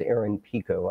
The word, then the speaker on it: Aaron Pico: And by the way, for everybody, it is Aaron Pico. I mispronounced his last name when I started off.